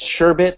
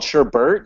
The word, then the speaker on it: sherbet: time sorry sure it's sure it's sherbet lock like the ice cream which i was called sherbert until i started looking at this book and they said hey that's spelled wrong it's like there's it's not sure bird you're an idiot and